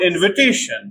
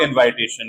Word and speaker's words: invitation: to realize and even in the noun form they pronounce like I for example verb invite noun invitation not invitation like many people say verb expire noun expiration